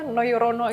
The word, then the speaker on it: Nojorono: sekali itu Kenapa namanya noyorono itu dari mana dan ejaannya masih pakai ejaan lama ya soalnya pakai j nojorono tulisannya Tapi bacanya memang noyorono oke nah itu sebenarnya